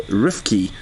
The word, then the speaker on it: Rifki: So your name is pronounced with an F. So Rifki.